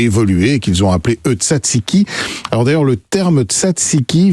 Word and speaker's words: tzatziki: En Iran, le mastokyar, qui est là aussi un dérivé du tzatziki. Et puis, bien sûr, en Grèce, sous le nom, vous l'avez dit, comment on prononce encore, Mathieu ?